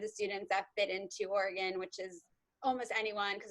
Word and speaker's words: Oregon: What is the correct pronunciation? Oregon.